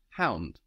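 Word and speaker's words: Hund: connotation but in German the everyday word for dog is HT Hound we also see the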